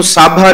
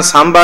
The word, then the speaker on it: सांबा: रविदास जी कहंदे है इनू साभा नहीं पढ़ना सांबा ही पढ़ना है जिवें भाई साहब जी दा उच्चारण है जी।